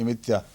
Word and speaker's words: امتیا: خداوند کا کلام یونا بن متا کہتے ہیں، یہ متیا لکھا ہوا ہے، امتیا یہی تلفظ ہے اصل. ہم تو متا ہی پڑھتے ہیں نا، نہیں یہاں بائبل میں متیا، یہ وہ ان کا پروننسیشن ہوگا کوئی ہیبرو تلفظ.